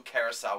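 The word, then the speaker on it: Curaçao: and blue curacao, which gives it that really, really pretty blue color.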